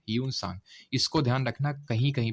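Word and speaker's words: Hiuen Tsang: कि ये second Chinese traveller था इंडिया में स्पेलिंग आई थिंक इसकी एच आई यू ई एन होती है ना यू सांग इसको ध्यान रखना कहीं-कहीं पे आपको जुआंग जांग के नाम से भी मिलेगा जुआंग जांग तो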